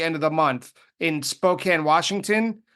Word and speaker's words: Spokane: Northwest toward the end of the month in Spokane, Washington, right?